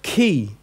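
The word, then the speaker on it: χῖ: after it you've got key as in chemical ok key as in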